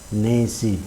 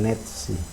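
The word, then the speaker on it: 네시: Jam 3, jam 4 juga sama, nesi bukan netsi.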